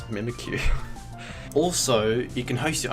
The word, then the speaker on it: Mimikyu: like Pikachu n it's mimik Q mimikyu I think that's how you say it yeah it's a ghost